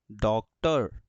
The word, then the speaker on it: doctor: और पढ़ा जाता है, लेकिन जब स्पेलिंग्स में ये आता है तो अर पढ़ा जाता है। लाइक DOCTOR, देखो OR, डॉक्टर, है ना।